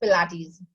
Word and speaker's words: Pilates: This came from Germany, so it's little difficult for Indians to pronounce it. Yes, so but it is Pilates.